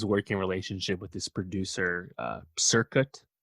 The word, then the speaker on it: Cirkut: Yeah, she has this working relationship with this producer, Circuit, I think is how you say it, Cirkut, who's a disciple of Dr.